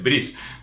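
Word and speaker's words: Bryce: Otro tanto me pasa con Alfredo Brice o Brice Echenique. Él tampoco se pone de acuerdo con cómo se pronuncia su apellido. Incluso podríamos pronunciarlo en francés Brice.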